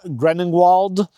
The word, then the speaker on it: Grenwald: And the Southern Kingdom is called Grenwald.